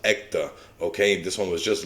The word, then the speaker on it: Ekta: we got this one i believe it's pronounced ecta okay this one was